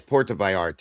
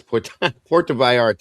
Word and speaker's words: Puerto Vallarta: So it's getting dangerous, And it's Puerto Vallarta. I knew that. I don't know why the hell I was trying to sound it out like a sixth grader. Sorry about that. Yes, Puerto Vallarta.